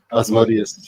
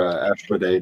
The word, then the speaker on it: Asmodeus: If he is any of the demonic hosts, he's definitely Asmodeus or Ashmodei, depending on how you want to pronounce it.